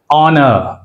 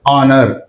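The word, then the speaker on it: honour: దీని ద్వారా తెలుస్తుంది right H letter ఆనర్ హెచ్ is silent here ఆనర్ అంతేగాని హానర్ అనకూడదు ఆనర్ right air హెచ్ is silent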